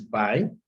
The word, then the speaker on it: buoy: repeat on several times the word buoy which is buy okay but it was